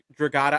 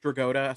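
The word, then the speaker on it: Dragotta: This is one where I'm like, this is one that you just said, Nick Draata. I've been saying Nick Draota, so I guess I've been saying it wrong this whole damn time.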